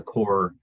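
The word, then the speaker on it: KOR: the Core mobile app, and that's spelled K-O-R. Core mobile is what we refer to. That's what I was going to specify. It's like, make sure it's not the typical spelling of Core, but yeah, it's K-O-R.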